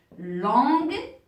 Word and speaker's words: longue: par exemple une robe longue alors si j'écris comme ça ça se prononce l'ange mais je veux une robe qui est longue longue donc je vais ajouter le U avant le E donc mes chers pour